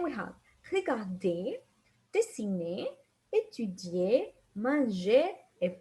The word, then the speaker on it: manger: So remember, regarder, dessiner, étudier, manger, parler. We never pronounce the R.